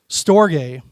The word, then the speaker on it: storge: This one's pronounced storge.